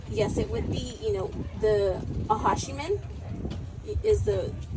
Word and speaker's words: Acjachemen: Well, I don't think there's necessarily a preference, but yes, it would be, the Acjachemen is the pronunciation of it, but the Juaneno Band Mission Indians and the Acjachemen, yes, to follow.